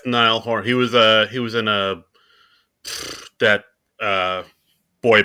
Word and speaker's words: Niall Horan: I don't even remember how to pronounce that person's name. Yeah, it's Niall Horan.